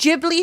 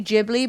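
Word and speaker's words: Ghibli: I think it's actually Jibli, but I hate that. Jibli sounds kind of like giblets. Yeah. Also, English is stupid because we're like, "Oh, no. Jibli sounds wrong." as though it's spelled with a G, like Giblet.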